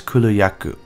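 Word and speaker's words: Kulu-Ya-Ku: cooler yaku cooler yakoo now you want to underline the yeah a little bit here so it's cooler yaku really reminds me of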